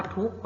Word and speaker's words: ทุกข์: คะ กำกับ ไว้ เช่น คำ ว่า ทุกข์ เรา ก็ จะ ไม่ อ่าน ออก เสียง ของ ไข่ โจทย์ เลข ก็ ไม่